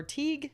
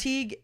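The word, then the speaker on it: Teige: it's turn I know I thought it was Teague and I saw one that said Ty and I was like what so anyway Teague we'll say Teague o Carol oneeyed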